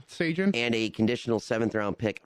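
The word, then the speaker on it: Sjalin: The Sabres in exchange got Cal Slajan. Trying to pronounce this correctly. Frank, help me out here. Frank, help him. What happened? Cal Sagan. Oh, Sagan. Yeah, it's Sagan.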